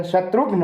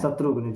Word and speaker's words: शत्रुघ्न: शुद्ध उच्चारण शत्रुघ्न होता है। शत्रुघ्न, जी।